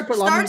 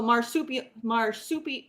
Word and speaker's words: Marsupilami: How do you So, spell Superlami again? so it's like marsupial. So marsupilami. Marsupilami.